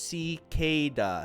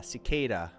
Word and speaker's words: cicada: i listen to it it's pronounced si ke da cicada okay that that helps